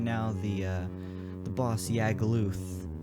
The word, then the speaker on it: Yagluth: Also, maybe some additions to the planes, because right now the boss Yagluth, which I pronounce as Uglith, because I'm stupid.